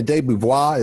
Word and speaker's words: DeBeauvoir: DeBeauvoir, it's got to kind of roll like that.